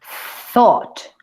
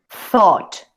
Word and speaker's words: thought: thought, Told. thought. Ah. Es diferente. Thought. Se dice, pronuncio la TH como si fuera un zipizapo, así. Y luego digo como una A bien atrás.